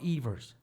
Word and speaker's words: Eivers: Is it Ivers or Evers? It's Evers, yeah. There's no Evers. big deal. Most people call me Ivers, but Right. it's actually Evers.